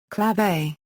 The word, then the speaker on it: clave: Etymology, Anglicized pronunciation, clave.